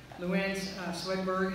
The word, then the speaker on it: Louann Swedberg: So Aaron Schneider, Luann Swedberg, did I get that pronounced right?